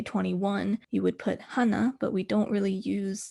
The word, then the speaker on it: hana: three you often may hear them just say ha instead of hana because tur and set both have one syllable but hana has two syllables so some